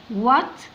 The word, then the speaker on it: what: طب هنا عايزين القرايه، الدبليو تنطق والاتش سايلنت لا تنطق. وات از برضو يعني ماذا يكون، الاختصار بتاعها واتس.